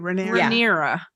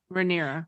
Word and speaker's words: Rhaenyra: I'm saying her name wrong too. Rhaenyra. Rhaenyra.